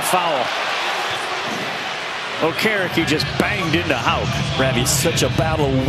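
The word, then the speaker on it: Haugh: Call him Hoff, Hawk, Houff, Hug, and Hag. And his name is Houck. Which does warrant an explanation since there's no K in the last name.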